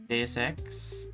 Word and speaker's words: Deus Ex: There's one game, Deus Ex EX.